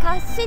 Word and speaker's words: 甲子: するよね帽子と書いて貸しと読む柏いいですね有名だしね